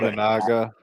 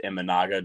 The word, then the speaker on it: Imanaga: Imanaga.